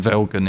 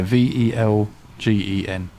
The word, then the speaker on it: Velgen: And then Velgen is our the US based wheel company.